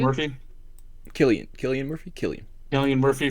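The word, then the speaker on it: Cillian: Yeah, Killian Murphy. Killian.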